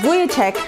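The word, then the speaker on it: Vujicic: Worldrenowned speaker Nick Vich Vichek, pronounced Buyek, wraps up his Latin American tour right here at home.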